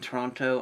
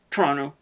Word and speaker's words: Toronto: We went to Toronto for a couple of days afterwards, or Toronto. It's a city in Canada. Canadians, please explain to me where the second T in Toronto goes, because you guys don't pronounce it.